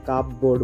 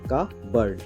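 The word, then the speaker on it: cupboard: pronunciation তেমনি আরেকটা word যেমন আমরা বলে থাকি কাপবো বোর্ড বলি কাপবো বোর্ড এটার উচ্চারণ হবে কাবার্ড কাবার্ড কাবার্ড যেমন আরেকটা সেরকম ওয়ার্ড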